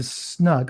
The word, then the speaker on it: snug: So you'd have to order your drink, get your drink, and then go into the snug. I'll call it snug because I'm American, but it's snoog the way they pronounce it.